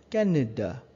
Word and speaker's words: Canada: the country is masculine for instance cannida that's how you pronounce canada in french or canada or you